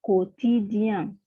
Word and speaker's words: quotidien: Jadi U-nya tidak dilafalkan ya, quotidien, question.